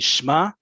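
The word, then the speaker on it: שמע: On the street, everyday conversation, if someone's using the imperative for lishmoa, it's going to be shma, singular masculine, shmi, singular feminine, and shmu. It's plural mixed gender.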